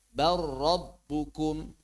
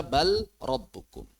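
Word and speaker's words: بَل رَّبُّكُمْ: Barabbukum. Ya enggak dibaca balbukum. yang izhar qul hal nunabbiukum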